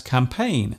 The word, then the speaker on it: campaign: Other words containing silent letters such as campaign, silhouette, rhythm, and bureau are taken directly from other languages.